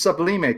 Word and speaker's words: sublimate: is so Kevin said is it sub we may or sub lime it's sublimate correct Salima yeah I mean